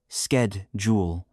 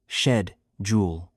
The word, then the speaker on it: schedule: Americans say skedjul while British people say shedjul.